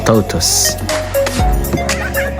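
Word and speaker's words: tortoise: guys according to research this word is pronounced as totus African savannah Africa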